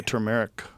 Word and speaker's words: turmeric: How do you say it? Turmeric. I say turmeric. Turmeric. You say turmeric? Yeah, I've heard people say it that way. I think they're wrong though. I think it's turmeric.